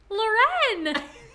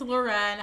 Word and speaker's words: Lauren: yet another special guest loren so sorry i didn't know if i was supposed to say my name or not yes it's lauren hello everybody i'm like